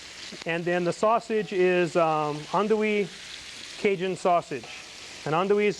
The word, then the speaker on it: andouille: How do you pronounce that? Andouille. Andouille.